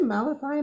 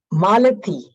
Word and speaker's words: Malathi: Do you say Malachi? Malachi. Did I get it right? I didn't get it right. Here. How do I say it right? You can unmute yourself. Malathi. Malathi. Okay, I was close.